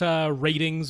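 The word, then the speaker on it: RTINGS: So over at ratings, which is how they say it, it's like R-tings, but over there.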